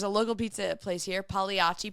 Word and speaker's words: Pagliacci: local pizza place here Pagliacci Pizza which if it was in New York that's not how it would be pronounced because it's p-a-g-l-i-a-c-i it would be definitely would be Pagliacci in New York you would say the g I don't know 100